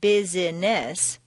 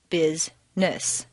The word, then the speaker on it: business: actually spoken for example business is not business but rather busness just when you get